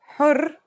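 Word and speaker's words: حُرّ: For example, here are two words that have the same letters but are pronounced differently and have different meanings because of the difference in voweling. Har means hot, while hur means free.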